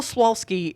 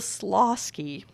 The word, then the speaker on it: Slawski: and apologized to him it's bill slawski uh and i for years i've been saying bill swalski if i say your